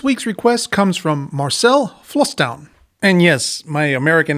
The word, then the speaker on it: Vlastuin: request comes from Marcel flown and yes my American accent aside that's actually how you pronounce it in Dutch the V sounds more like an f and a is more